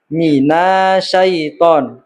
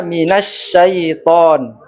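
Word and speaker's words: مِنَ الشَّيْطَانِ: kalimat taawud atau istiadah kesalahan-kesalahan umum yang terutama pada kata minait harusnya minasyaitan kemudian nirjim itu juga salah harusnya nirrojim karena di dua kata itu ada huruf atau disebut juga alif lam Syamsiah.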